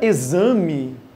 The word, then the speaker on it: exame: um som de ksm na palavra exame tem o som de z e eixo você tenha